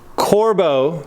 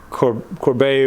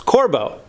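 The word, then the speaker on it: Corbeau: it right this time corbo seats in there it's not pronounced corbett or however i was saying it before it's corbo the brand the brand let me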